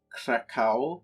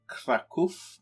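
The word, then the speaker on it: Kraków: left off we had captured krakow which is actually pronounced krakow i found that out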